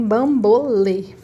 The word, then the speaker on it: bambolê: Bambolê entra na regrinha, aliás, qual é a sílaba tônica de bambolê? Bambolê vai ser o lê, né? Bambolê. O lê é o que a gente vai falar mais forte.